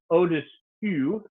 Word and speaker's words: au-dessus: So we have you over here and oo over here. And we have two really good examples of this where there's just one letter difference when you spell it, but they mean totally opposite things. So au-dessus means like above, like something is above. Below, au-dessous is below.